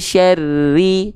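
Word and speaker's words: شَرِّ: Oke, kalau nggak ditekan misalnya nggak ada tasdidnya, maka pelafalannya bunyinya seperti ini. Wa min syarri, R-nya nggak ditekan kan, makanya ada tasdidnya di sini. Tekan. Wa min syarri, tekan syarri.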